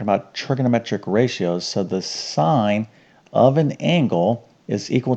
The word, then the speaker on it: sine: All right, so S is, this is sine. Okay, now if you were to spell it out, it's S-I-N-E, but the abbreviation is S-I-N. Okay, like sin, all right, but it's called sine.